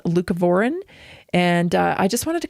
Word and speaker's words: leucovorin: I think it's pronounced leucovorin.